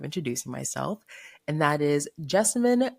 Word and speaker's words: Jessamyn: myself and that is Jessimine rhymes with specimen but with a J.